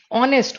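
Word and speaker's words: honest: ऑनेस्ट, ऑनेस्ट का H silent है, ओ है, ऑनेस्ट ओ आई में।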